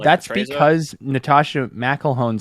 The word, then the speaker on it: McElhone: She pronounced it McElhone.